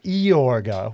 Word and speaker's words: Yorga: Many Loves of count iorga with an eye which they still kind of pronounce his name with a little bit of an Eeyore sound now it's pronounced yeah